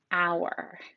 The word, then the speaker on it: hour: This first word here, this is the word hour, but it's spelled whore.